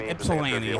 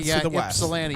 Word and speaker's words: Ypsilanti: Yeah, I was visiting my grandma over there, so from Ypsilanti, so I I was just going to say Ypsilanti. Even though there's a Y in the name, it's not how it's pronounced.